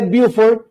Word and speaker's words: Beaufort: las escalas meteorológicas tanto la escala de beauford bien y se pronuncia de esa forma porque es inglés no francés y la escala de